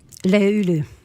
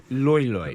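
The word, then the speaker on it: löyly: first of all, it's pronounced just as it's spelled, Loyly. Loy. Lulu. Lulu. Yeah, there's an umlaut over the Man, I am bad at Finnish.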